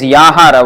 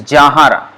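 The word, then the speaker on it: যাহার: So here again Bengali pronunciation, it is Yahara, Y, but the way it is pronounced usually by Bengalis is Jahara, Ja.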